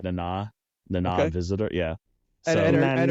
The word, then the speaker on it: Nana Visitor: It's spelled like Nana, like Nana, but it's pronounced like Nana Okay.